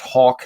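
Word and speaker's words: Haack: you have a punter, his name is Hack, but they try to pronounce it as Hawk.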